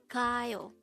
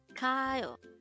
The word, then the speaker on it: 가요: 가요. 가요. This is pronounced as a two-syllable word. The first syllable is ga, second syllable is yo.